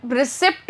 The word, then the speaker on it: receipt: आ रहा है, आप रिसीट रिसीट क्यों बोल रहे हो? तो देखो, यहाँ पे ये जो पी होता है ना इस स्पेलिंग के अंदर, ये पी होता है साइलेंट।